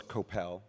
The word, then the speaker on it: Koppell: So, first of all, it's Koppell. It's okay. Rhymes with hotel.